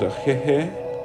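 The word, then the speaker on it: Ahéheeʼ: We have hello, which is pronounced ya'ate. We have thank you, which is ajeje.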